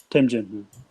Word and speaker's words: Temjin: Will Silverstone move towards making a micro ATX Temjin? Is that how you pronounce it? Temjin? Yeah, Temjin.